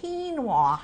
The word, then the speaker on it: quinoa: Quinoa is how it's pronounced.